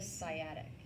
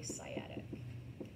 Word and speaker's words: sciatic: It is called the sciatic nerve. Okay, sciatic. So that C is silent.